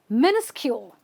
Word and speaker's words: minuscule: but how do you say it you say minuscule minuscule minuscule means very tiny i can't see